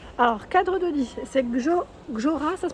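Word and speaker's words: GJÖRA: Alors, cadre de lit, c'est Gjora, ça se prononce.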